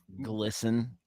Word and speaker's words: GLSEN: I don't know how you pronounce that. Glisten. Oh, yeah, it makes sense.